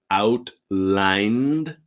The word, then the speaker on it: outlined: for the new app now pay attention with the pronunciation in the past tense pronunciation so outline is the present and out lined is the past okay I know you can see the Ed but really it's like a post d as in outlined okay outlined example three